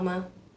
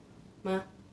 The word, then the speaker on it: 吗: Jadi memang langsung, kalau nggak ada nadanya itu dibacanya langsung kayak cepat. Misalkan ni hao ma, kayak gitu, ma, kan bener-bener kayak pendek banget, ma.